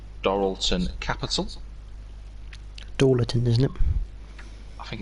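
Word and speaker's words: Dorilton Capital: team's new owners the answer was obviously I pronounced this correctly dorlon Capital dton isn't it I think it's dorlon isn't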